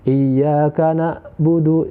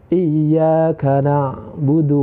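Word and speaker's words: إِيَّاكَ نَعْبُدُ: kita membaca main ya main harus dibaca Ain dan alis harus dibaca Alif banyak sekali kita temukan di masyarakat kita umumnya itu ketika membaca Ain itu dibaca Alifia iyakanakbudu itu salah yang betul adalah iyakah sok budu wa iyyaka nasta'in ingin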